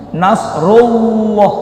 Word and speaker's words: Nasrullah: Nasrullah, bukan ru tapi rullah.